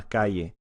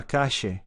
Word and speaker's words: calle: The double L is a sh. So, ella está en la calle.